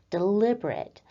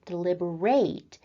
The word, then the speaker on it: deliberate: You probably already know the word deliberate as an adjective where we have the emphasis on the second syllable deliberate. But for this class on verbs, we're looking at the verb form of the word deliberate where we put the